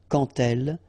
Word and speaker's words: quand elle: So, like that, quand elle, all right, same rule here, remember, when you will have this D, you will phonetically pronounce it like T, quand elle, dans un, okay, and